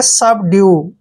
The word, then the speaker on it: subdue: देखिए SUB को हम क्या पढ़ते हैं सब, ठीक है, सब। DUE का उच्चारण ड्यू करेंगे, ठीक है, सब ड्यू।